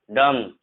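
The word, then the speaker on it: dumb: बी जो silent होता है जब एम के जस्ट बाद आप बी देखोगे तो बी साइलेंट होता है, ध्यान रखना।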